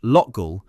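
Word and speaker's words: Loughgall: Lofgul, pronounced Lgull, is a village in County Armar.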